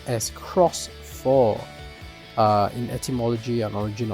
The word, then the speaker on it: Shoutmon X4: all right here we have it it says pronounce as cross for uh in atmology An Origin of the thing